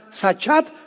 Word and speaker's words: sachat: La palabra corromper también es importante porque la palabra hebrea sachat se escribe con S de Samuel y CH, como suena sachat con T de tío al final.